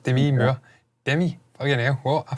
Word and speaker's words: Demi Moore: Demi, obviously, or Demi, as I've since discovered her name, apparently it's pronounced Demi Moore.